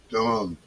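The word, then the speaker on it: 遯: Chinese character don pronounced don like don don same as don.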